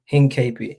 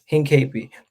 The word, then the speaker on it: Hincapie: I forget how to pronounce his name again. 1 second. This is gonna bother me all day. Hincapie. Hincapie. So yeah, Hincapie.